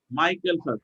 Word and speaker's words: Michael Phelps: উচ্চারণটা কি? মাইকেল Michael Phelps. মাইকেল ফেলপস, তারা এই উসাইন বোল্ট এবং মাইকেল ফেলপস মেক